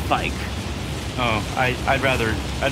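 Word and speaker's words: Vyke: War spear I got Vicky's War spear it's actually pronounced bike oh I I'd rather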